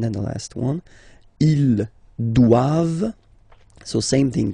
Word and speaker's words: doivent: And then the last one, ils doivent. So same thing, classic ending for the plural form, ent here. Okay, but then you don't pronounce it. Doivent, doivent. Elles doivent.